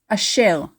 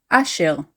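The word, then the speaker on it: אשר: The word Asher is formally pronounced in Hebrew Ashel, Ashel. Formally, we stress the last syllable in the word, Ashel, but very commonly, we stress the second to last syllable, Ashel.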